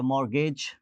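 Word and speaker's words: mortgage: हमारे पास जो है मॉर्गेज टी साइलेंट है ऑफें नमोट और रिदम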